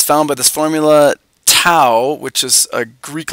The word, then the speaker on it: tau: found by this formula tau which is a Greek letter it rhymes with now anyway it's for torque